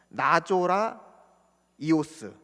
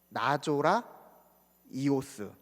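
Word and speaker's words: Ναζωραῖος: 나조라 이오스. 나조라 이오스.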